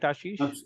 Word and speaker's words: Ashish: a little better so Ashish Madi am I pronouncing your name right Ashish absolutely correct yeah so Ashish Madi currently serving